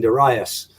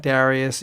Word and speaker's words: Darius: and what happens is and King Darius is definitely up for coming back and starts